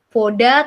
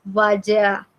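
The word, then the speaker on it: вода: Contoh kalau air vaja jadi O, berarti kita tahu bahwa kalau ada tanda petik di atasnya bacanya bukan voda tapi vaja.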